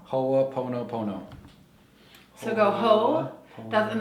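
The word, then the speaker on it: Hoʻoponopono: cool yeah I love it how do you pronounce this again HOA Pono Pono HOA Pono Pono so go ho that's and then the dot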